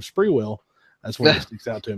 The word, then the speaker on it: Sprewell: been mispronouncing names but it was saying spur Oh instead of Sprewell that's what sticks out